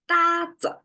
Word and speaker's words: 搭子: Today's expression, 搭子, again, is a newly made expression that's occurring commonly in social media.